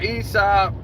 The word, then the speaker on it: Isaac: Now, you got the guy Aesop, which is Isaac Cruz. Isaac Cruz, in Spanish it's called Aesop, but we call it Isaac.